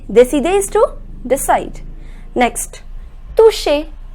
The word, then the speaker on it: toucher: Next, toucher. Remember I told you the pronunciation of CH is sh. So it becomes toucher.